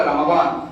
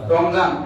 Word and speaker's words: রমাদান: ফজিলত প্রথম কথা হচ্ছে রমজান কি যেটা আরবিতে বলে রমাদান রমাদান মানে হচ্ছে মাস আর রমাদান হচ্ছে আরবি একটি মাসের নাম আরবি একটি মাসের নাম কি রমাদান রমজান আমরা কিতা সহজ উচ্চারণের কই রমজান আরবি একটা মাসের